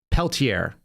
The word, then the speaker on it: Peltier: Peltier. It's hard for me to pronounce that. It's a French name.